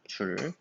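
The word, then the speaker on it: joule: 네, 그리고 일의 단위, 이는 줄이라고 읽어요. 줄.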